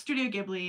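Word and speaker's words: Studio Ghibli: um our conductor will ask us how it's pronounced and and I'll be like yeah it's Studio gibli I'm like they have really cool movies like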